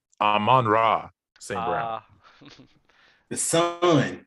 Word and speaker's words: Amon-Ra: Amon-Ra St. Brown. The Sun. Say it. The Sun. Amon-Ra. Hold on, wait. I gotta say it phonetically so Dub can spell it.